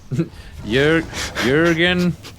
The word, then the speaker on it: Jurgen: man in the corner remember how to pronounce that yurgen Jurgen lurman good very good thank you y uran lurman